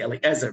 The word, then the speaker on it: Eliezer: In the Torah, we pronounce the Aleph. We say Eliezer, B'Shem Echad Eliezer, and we say Binchas ben El-Azar ben Aharon HaKohen. But in post-biblical times, you